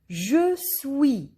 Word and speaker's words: Je suis: Je suis. Here S is silent.